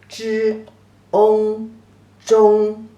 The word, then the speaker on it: 中: The pronunciation is 知翁中.